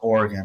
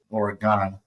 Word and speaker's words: Oregon: Eastern accent I know it's pronounced Oregon not Oregon I that by someone who's